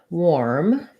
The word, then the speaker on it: warm: get the correct sound and then warm the letters ar here say the or diphthong the problem is if i rewrite it with or then i get the word worm which actually has the er sound so worm is like wer plus m war is like this kind of war plus m um so warm and